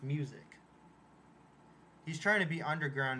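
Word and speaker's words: µ-Ziq: name is this but it's pronounced music he's trying to be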